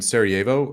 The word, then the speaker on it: Sarajevo: So you're in Sarajevo at this point in time. Am Yeah. I pronouncing that correctly?